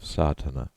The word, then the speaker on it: Sadhana: going through the proofs a word may be added about the pronouncing of satana the accent Falls decisively on the first a which has the broad sound of the letter contents 1.